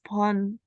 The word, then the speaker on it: phone: Ini kalau misalnya huruf P ketemu sama huruf H, ini dibacanya F ya. Jadi Oh, bacanya apa? phone. Ya, kalau ini bacanya apa? Alphabet. Ya, jadi gitu ya. Jadi kalau P Phone, ketemu H dibacanya F. ya, dibaca F.